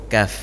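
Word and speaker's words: كاف: Sedikit di depannya huruf kaf. Nama hurufnya kaf. Nama hurufnya kaf. Pengucapannya ka, ki, ku, bak. Ini yang berangin, Pak.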